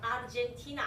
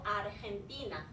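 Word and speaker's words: Argentina: 아르티나 그렇죠. 아르젠티나 아니고 아르헨티나.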